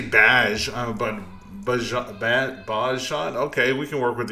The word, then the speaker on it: Bajshot: So, uh, it's actually Bajot, but you can pronounce it any way you want truthfully because I thought of the name when I was like 12 years old logging into OSI.